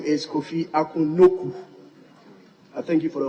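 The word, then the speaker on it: Nokoe: Right Honorable Speaker, just like Kujo became Kojo, it was supposed to be N-O-K-U traditionally, but the spelling has differentiated a little to K-O-E, but the pronunciation is N-O-K-U, Noku.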